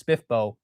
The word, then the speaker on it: SPFBO: Sometimes like, I just barely learned that SPFBO was SPIFBO recently.